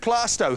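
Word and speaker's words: Plaistow: whereabouts in London are you John I'm from plasto in London East London plasto it's spelled playo isn't it oh playo but it's pronounced plasto who decided that who suddenly said it's plasto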